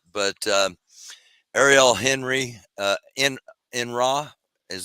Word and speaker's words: Henry: how he says it do they pronounce it the like French style what yeah his last name where is it Henry uh I think it's Ariel enre I arel okay that's what